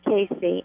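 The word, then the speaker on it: Cayce: I would like to refer you to Edgar Casey and it's spelled c a yce and I've had that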